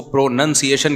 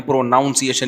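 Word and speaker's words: pronunciation: प्रोनाउन है प्रोनाउन है लेकिन जब इसको प्रोनसिएशन कहेंगे ना प्रोनाउंसिएशन नहीं कहते तो मैं अपनी तरफ से इ्तहाद करके प्रोनाउन से प्रोनाउंसिएशन बनाता था मुझे किसी ने बताया ये प्रोनाउंसिएशन जब होगा तो प्रोनंसिएशन होता है नाउन नहीं तो लुगत में कयास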